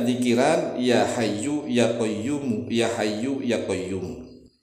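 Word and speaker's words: يا حي يا قيوم: Perbanyak zikiran ya Hayyu ya Qayyum, ya Hayyu ya Qayyum. Tetapi ingat nih cara membacanya, yu-nya dibaca, mu-nya dibaca. Jangan diwakafkan. Jangan diwakaf begini, ya Hayyu ya Qayyum, ya Hayyu ya Qayyum, ya Hayyu ya Qayyum, tidak.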